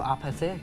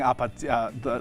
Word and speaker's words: Apathy: Great pronunciation of Apathy. I know. I was saying Apathy, like apartment Yeah.